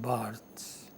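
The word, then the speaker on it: Barthes: of thought is Roland Barts b a r t h e s but in French the last syllable remains silent so we pronounce it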